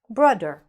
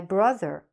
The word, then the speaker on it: brother: You should be saying the TH properly, like a TH. My brother, my father, my mother, okay?